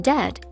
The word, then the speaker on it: debt: In debt, the b is silent.